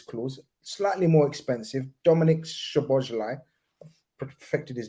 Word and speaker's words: Szoboszlai: I had a Hungarian journalist, all right, the other day, and he taught me how to say it. So Dominic Szoboszlai, Right?